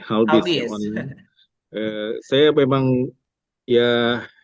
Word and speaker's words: HallBizz: Bacanya HBIS apa? Halbis nih. Halbis.